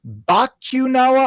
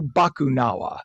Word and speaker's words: Bakunawa: Is it pronounced Bakunawa or Bakunawa, the the new roller coaster? The second one. You got to ride on the second shot. So I appreciate it. And you know, it is Filipino in origin, so not everyone is